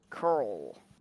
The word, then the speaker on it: Carl: And his name isn't actually Coral, it's Carl, but he pronounces it like Curl.